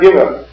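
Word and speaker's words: גימל: same then you have giml giml is very easy for most people giml pronounced like a g there's one group of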